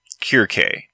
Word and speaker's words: Circe: Some words, like the word Circe, do not quite sound the same in Greek. Her name in Greek sounds more like Kirke. There's that pesky English use of the snake C instead of the Greek and Latin hard C.